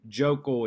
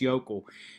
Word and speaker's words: Yokel: Smith, and I pronounced that incorrectly at first. I kept calling him Jokel, it's Yokel. Mr.